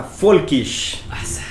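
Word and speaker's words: Völkisch: Se llama Folkish. Y de hecho, como tiene un laut, es Folkish.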